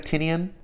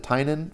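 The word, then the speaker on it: Tynion: James Tainan the fourth I know it looks like Tinian I heard him pronounce it Tainan so I'm gonna assume he knows how to pronounce his name so that's what I'm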